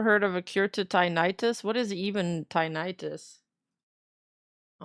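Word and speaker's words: tinnitus: Well, I got to add pronunciation for it. Tinidis.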